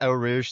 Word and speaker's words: Eau Rouge: Just going flat out on I can never Oh, pronounce it. Rouge. Yeah, Eau Rouge, thank you.